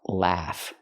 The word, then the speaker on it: laugh: mistakes love the word is pronounced laugh we have to use the short ass sound like black cat laugh not the short uh sound like cup and up love but the sound a laugh so pronunciation laugh laugh